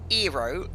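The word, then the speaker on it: Hierro: let's now that well the h is silent okay so eero that doesn't sound very spanish right let's tax your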